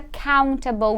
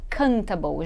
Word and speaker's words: countable: Então, olha só, what is a countable noun? Vamos primeiro trabalhar a pronúncia, direitinho, porque bastante gente acaba falando errado essa palavrinha aqui. A gente fala countable. Countable, que vem de count, não é cantable.